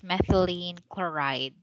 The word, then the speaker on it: methylene chloride: Anyways, so again, this is pronounced as methylene chloride.